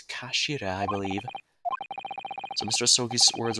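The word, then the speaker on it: 頭: end of the hilt it's written as head in japanese but it's pronounced as kashira i believe so mr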